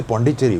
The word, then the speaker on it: Puducherry: If you can't say Puducherry, just say Puducherry. That's good enough. Because you can write the two words separately and then the will not happen. The doubling will not happen. If you write it together, the doubling happens. Puducherry. But if you write it separately, Puducherry, then it's fine. So you can say Puducherry also, but don't say Puducherry or Puducherry or whatever else you say.